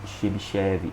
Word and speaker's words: Chebyshev: chamar de filtro de Chebyshev. Ele é um russo, o nome dele se escreve com T, mas em português a gente convencionou a não colocar o T e chamar de Chebyshev.